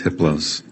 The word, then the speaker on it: Hipplos: His name is Hipplos. The H is silent.